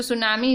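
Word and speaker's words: tsunami: यहाँ देखो T silent है, सुनामी में टी साइलेंट है। सो सुनामी इज़ a huge C wave generated due an earthquake on द sea floor, ठीक है।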